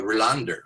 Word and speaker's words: Rohlander: And then the last name is Rohlander, but the way they pronounce it, at least my attempt to pronounce it the way they do, is Rohlander. Rohlander, right?